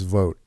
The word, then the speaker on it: Vought: everything I watched and listened to they pronouned pronounced it vote somebody was all it's a with a V so it's vote like what an so have